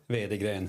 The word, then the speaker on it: Veideglen: Veideglen.